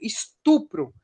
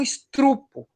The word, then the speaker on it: estupro: Vou dar um exemplo, por exemplo, estupro. É muito comum estrupo, né?